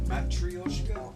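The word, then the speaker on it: матрёшка: Yeah, I guess the proper pronunciation is like more like Matryoshka.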